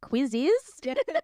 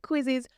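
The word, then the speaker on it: Quizizz: So I never know how to actually say this, but it's spelt like quiz with an extra IZ at the end. Yeah, I always say quizzes.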